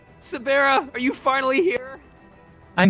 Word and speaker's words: Sabera: That is how you pronounce it. It's Sabera.